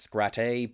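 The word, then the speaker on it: Scratte: I already talked about Femscrat, and yes, I know at this point her name is actually pronounced Scrat, but I've gotten used to calling her Femscrat, so I'm sticking with that.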